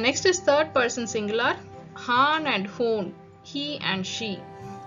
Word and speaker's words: han: is a male then we say it does Han if it's a female then we Say hoon